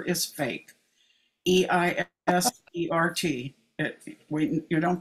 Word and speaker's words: Eisert: And Eisert is spelled the way Germans do. The first letter is fake. Eisert.